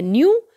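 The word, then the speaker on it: knew: नहीं होता ये है न्यू यहां पर आप लिख सकते हैं के एन ए डब्लू न्यू यहां पर हमारा के साइलेंट है जैसे यहां नॉट में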